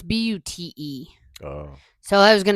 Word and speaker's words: Bute: So Is it spelled like Butte, Montana? No, it's Bute.